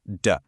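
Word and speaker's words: 的: And it's pronounced duh.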